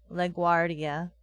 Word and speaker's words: LaGuardia: oh I see okay LaGuardia that sounds weird where the pronunciations are all over the place say it again LaGuardia you got it perfect that time LaGuardia you only roll double RS oh really this is